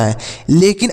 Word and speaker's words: hall: ए की मात्रा होता है। लेकिन अब देखिए, ए के बाद अगर LL आ जाता है तो इसका जो उच्चारण होता है ए का वह अ के रूप में होता है।